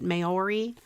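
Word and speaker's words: Māori: what that is either n-a-o-r-i how do you pronounce it Maori mayori you guys aren't really giving me the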